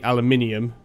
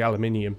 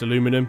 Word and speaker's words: aluminium: and other english people or british people say aluminium well it's because in english it has an extra eye in it and it is actually aluminium so it is a little bit weird but